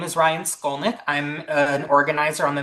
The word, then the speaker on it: Skolnik: And so um, I'm so happy that Ryan, let me see, Stolnik, is that how you pronounce it? Yeah, Okay, Skolnik, exactly how it looks.